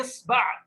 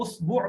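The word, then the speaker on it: إصبع: اصبع. بولیے اصبع. اس لفظ کے تلفظ میں اتنی ساری لغتیں ہیں. اس کو اسبوع بھی کہہ سکتے ہیں. इसबुअ भी कह सकते हैं, इसबा भी कह सकते हैं, असबुअ भी कह सकते हैं।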